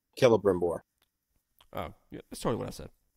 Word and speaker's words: Celebrimbor: It's pronounced with a K. Celebrimbor.